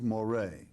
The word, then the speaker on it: Moreh: But Moreh, and this is the proper pronunciation, quite frankly, in Latin for Murray is Moreh, all right?